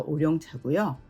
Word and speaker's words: 오룡차: 한문으로 오룡차는 까마귀 오자에 용룡자를 써서 우리나라식으로 읽어서 오룡차고요. 우롱차는 중국식 발음입니다.